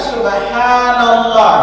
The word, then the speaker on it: subhanallah: Ingat bacaan yang benar subhanallah. Coba ulangin. Subhanallah. Ingat hanya panjang. Saking cepatnya subhanallah, subhanallah, subhanallah, subhanallah, subhanallah, subhanallah. Jangan cepat-cepat banallah. Ini.